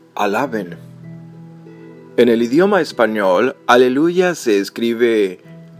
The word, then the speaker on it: aleluya: En el idioma español, aleluya se escribe A, L, E, L, U, Y, A. Y solamente hay un acento pronunciado sobre la sílaba lu.